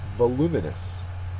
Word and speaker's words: voluminous: spoken next one is voluminous and although vociferous has to do with being loud voluminous has nothing to do with volume in terms of hearing things voluminous is an adjective second syllable is accented it means of great